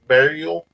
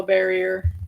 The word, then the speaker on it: barrier: Weed burial, Oh, barrier.